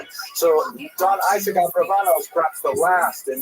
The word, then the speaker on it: Abravanel: It was a rock version of Abarbanel, but it's most likely pronounced Abravanel or Abravanel. So we'll stick with the scholarly norm, although you know who I am talking about.